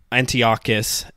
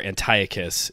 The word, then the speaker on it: Antiochus: In the meantime, Antiochus, as you say in Hebrew, or Antiochus, if you go with the Greek pronunciation, he like desecrates the temple, just brings it down.